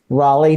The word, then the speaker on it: Raleigh: with the history and evolution of her hometown Raleigh North Carolina did I say it right you